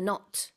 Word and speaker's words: knot: Bradley Cooper yeah I know I I don't know I haven't heard of it tie your shoelaces the KN you'll be Inseparable that's right k n o t k of course is silent and an optic uptick